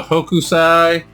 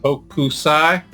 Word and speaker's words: Hokusai: So Hokusai, I believe is how you pronounce it, Hokusai, Japanese artist, and I believe the 1700 time frame, and apparently did hundreds of works.